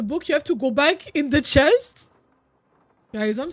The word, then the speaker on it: ba: So the first triangle is pronounced ba. B-A-H.